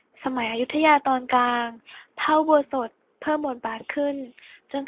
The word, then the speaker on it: อุโบสถ: 3 อุโบสถ 3 อุโบสถ อุโบสถ อ่าน ว่า ออ อุ อู่ บ ป โอ โบ ส โอะ ด สด ถือ เป็น อาคาร ที่